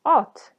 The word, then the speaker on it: ot: in meaning for example the word ot which means horse versus ut which means grass the pronunciation again art versus oat there are 22 consonants